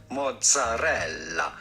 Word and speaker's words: mozzarella: We are looking at how to pronounce with the typical Italian pronunciation the name mozzarella. Nah. Mozzarella. You do want to insist on the double... No, you don't.